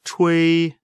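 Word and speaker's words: 吹: The pronunciation of chui, ch, is pronounced as the ch in the English word Chinese, and wei similar to a in wei.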